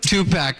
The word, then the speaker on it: Tupac: and Tupac not get along about?